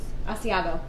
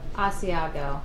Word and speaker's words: Asiago: Asiago. Asiago.